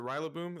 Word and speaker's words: Rillaboom: Is it Rillaboom? That's how you say it, right? Rillaboom. Rillaboom. Okay, so As Rillaboom, in Gorilla. and then Boom.